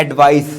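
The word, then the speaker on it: advice: जैसे एडवाइस versus एडवाइस इसको बोलते हैं एडवाइस सा से सा एडवाइस इसको बोलते हैं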